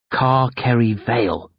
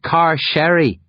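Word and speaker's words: Carcery Vale: sign as we exit car kerry vale car curry vale hi murmur it's pronounced car sherry dervish grunts this is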